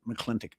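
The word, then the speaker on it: McLintock: You remember uh the John Wayne movie, Marino Hera, uh Mcccleintoch? Yeah. Or some people pronounce it mcclintic.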